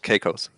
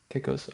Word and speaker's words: Caicos: Um, so how do I pronounce that? Caicos? Is it like that? Yeah, Quesos? Caicos. Caicos.